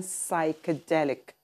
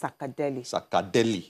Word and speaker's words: psychedelic: i can tell yes that's an ambush way of pronouncing it really because that's actually an african way of pronouncing psychedelic okay um the english word is psychedelic okay but the african way is i believe it's sacadeli yeah yeah yeah now